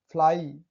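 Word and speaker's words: fly: अंतिम में वाई हो, शब्दों का अंतिम वाई है भाई, वाई से पहले एक या दो कंसोनेंट हो, ठीक है। वाई से पहले एक दो कंसोनेंट है का उच्चारण आई होता है, जैसे जुलाई, ट्राई, साई।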